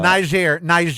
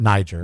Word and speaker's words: Niger: We can very briefly mention Niger, sure, as it is pronounced, and not Niger, it's Niger, has criminalized same-sex intimacy for the first time in its history.